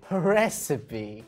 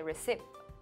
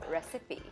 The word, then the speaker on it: recipe: So they say recipe or something like that, which is wrong. Okay. In this case, you do pronounce the E in the end, so recipe.